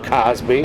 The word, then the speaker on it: Cosby: No, but yeah, man, I hear Crosby, and I'm not even anywhere close to Bill Cosby. But damn, Mike. Yeah, I put an R in it.